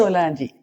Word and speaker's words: Solange: De hecho, es Solagne. ¿Cómo se dice? Solangi. Solangi. Eso es Solangi.